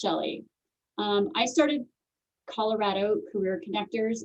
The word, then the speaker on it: Chelle: I know it's spelled weird, but that's part of me being brave and putting myself out there is it is pronounced Chelle.